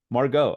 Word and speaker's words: Margot: pronounce it Market Margaret Margot Margot oh wow it's French okay so Margo and